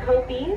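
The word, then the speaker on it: kopje: And we're approaching the African rock kopi. The jay is silent.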